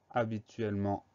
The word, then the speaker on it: habituellement: syllabe la syllabe à on va pas oublier le h muet habituellement ça commence par un h donc h à pour